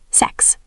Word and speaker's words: sechs: Sechs. That's six. Yes, hear the extra s at the end, sechs.